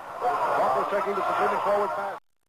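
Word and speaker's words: Bachouros: Bacurus, I'll spell his name again for you, B-A-C-H-O-U-R-O-S. He's a junior from Chicago, Bacurus. With that three or four pronunciations of his name, Bacurus taking the completed forward pass.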